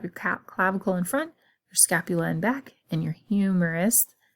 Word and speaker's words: scapula: I think scapula rhymes with spatula, and it is kind of like a fan-shaped bone.